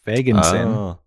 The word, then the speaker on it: Feigenson: a long time the russian-born feigenson brothers pronounced feiginson perry and ben created phago and they shortened the name to fayogo in 1921.